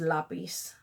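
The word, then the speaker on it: lapis: we probably should but for me that word is lapiz because that's how it's spelled in Spanish so not beasts it is la piste luxury this is a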